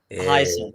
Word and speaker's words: Hyacinth: Hyacinth. Yeah, that's how you pronounce the last name.